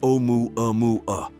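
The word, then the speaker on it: ʻOumuamua: In addition to the technical name, the Pan-STARRS team gave it the Hawaiian name Oumuamua, pronounced Oumuamua, which means a messenger from afar arriving first.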